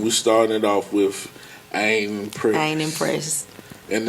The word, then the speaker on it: Ieen: And we started off with I Ain't Impressed. And it's spelled I-E-E-N.